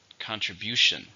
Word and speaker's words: contribution: it's a countable noun there are four syllables stresses and third contribution thank you for your